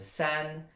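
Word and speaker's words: 三: Bon, sachez simplement que vous l'avez, comme ça se prononce san, vous l'avez dans la marque coréenne, très très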